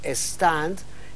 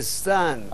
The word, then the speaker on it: stand: puede alargar la pronunciación es decir stand en vez de sant así el inglés así